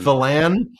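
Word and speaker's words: Phelan: I like to say f but well I'll pronounce it right F fan fan um the Secretary of Navy just think about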